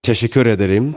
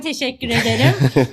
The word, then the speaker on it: teşekkür ederim: Well, teşekkür ederim. Thank you for taking the time today. Oh, wow. Excellent pronunciation. Thank you. Ben teşekkür ederim.